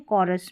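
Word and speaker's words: chorus: नहीं यहां पर जो है इस स्पेलिंग में सी के बाद जो एच आ रहा है किस में? कोरस में।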